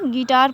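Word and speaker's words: guitar: और यहाँ पे क्या पड़ जाएगा, गिटार पढ़ा जाएगा, हाँ, यहाँ पे गेस्ट, गाइडेंस, मतलब यू यहाँ पे है हमारा क्या है, साइलेंट है, हाँ।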